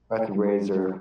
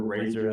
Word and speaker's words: Razer: I'm bad with names Razer you can just say it like that that's how he called me I'm just gonna say Razer because that I remember razor as in razor blade or whatever gotcha so he's actually